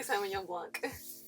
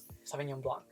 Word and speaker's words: Sauvignon Blanc: How do you say Sauvignon Blanc? Sauvignon Blanc. Sauvignon Blanc. Oh, when you're in Georgia, son. You're in Georgia, kid. It's kind of like saying blunt.